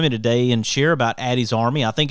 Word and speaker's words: Ady's Army: that there's no confusion addie is spelled a-d-y so it's addie's army and you can go